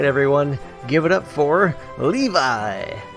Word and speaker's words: Levi: give it up for Levi I mean Japanese pronunciation levy that's all the time